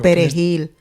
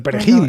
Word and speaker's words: perejil: Digo, igual es que empezó en un pueblito llamado el Perejil. No, eso era lo que tenían que decir. Diga perejil. Diga perejil. Y si lo decía bien, si sabía pronunciar la R, se salvaba.